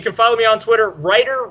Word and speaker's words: Ruiter: follow me on Twitter writer wrong fan but the writer is spelled a little different it's R UI T